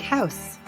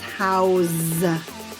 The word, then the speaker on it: house: lives in a big house house but when you're talking about a verb it becomes house with a z sound so it's nearly impossible